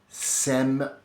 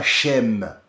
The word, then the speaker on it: Sem: Sem, Ham et Shaif, ils sont de cette prononciation et ce n'est pas chem comme c'est écrit.